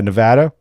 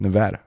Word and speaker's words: Nevada: so I want to remember it but yeah Nevada that's that's what I'm gonna go with Nevada so shout out shout out to the wolf